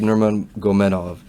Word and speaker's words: Nurmagomedov: Yes, Khabib Nurmagomedov.